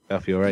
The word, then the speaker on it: Belfiore: I'm going to pronounce his name wrong. Belfiore, is that it? Belfiore, yeah.